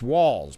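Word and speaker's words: Walz: what El Franken said it's walls pronounced walls a great choice with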